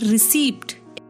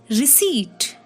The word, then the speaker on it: receipt: next one is received it's not received it's receipt receipt i lost my receipt